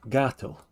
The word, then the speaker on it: gatto: Gatto, yeah, gatto. It's pronounced G because the next letter is A.